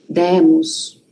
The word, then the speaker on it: demos: Demos, deram, abre o som do e, né? Fica um e aberto.